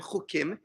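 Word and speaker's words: חוקים: So it would be in Hebrew, ches, vav, kuf, yud, mem, chukim. But in English, I would probably spell it ch for che and then ukim.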